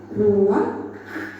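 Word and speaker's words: רוּחַ: Ruah. Iya, benar. Tenggorokan kita harus benar-benar bersih di akhir pengucapan.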